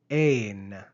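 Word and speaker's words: ἦν: Compare the verb ain and the preposition en. Notice the long eta, ain, on the verb and the short epsilon, en, on the preposition.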